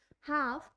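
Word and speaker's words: half: तो आपको यही प्रोनाउंसिएशन ही सीखनी है कि अगर वोवल ए और यू के बाद एल का यूज किया जाता है तो वहां पे जो आपकी एल की साउंड है वो नहीं आती है, वो वहां पे साइलेंट हो जाती है। हाफ, पाम, ये सब क्या होती है, विदाउट एल के वर्ड्स होते हैं जिसमें एल को साइलेंट रखा जाता है।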